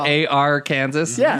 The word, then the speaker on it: Arkansas: I don't get how is that really how it's spelled a r Kansas yeah that's awesome but it's pronounced Arkansas yeah